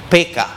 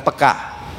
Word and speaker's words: peka: Dalam bahasa Indonesia sebetulnya pengucapannya yang benar gaya orang Batak, PK, bukan peka.